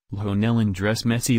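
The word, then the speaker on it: Lionel Andrés Messi: Spanish pronunciation, Lionel Andres Messi.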